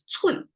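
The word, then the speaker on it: 寸: the wrist and actually the whole thing pronounced as Chun uh it means inch that's a Chinese inch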